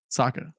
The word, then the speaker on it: Saka: also we were mispronouncing I think we were mispronouncing Saka by the way Saka oh yeah yeah Saka yeah of course definitely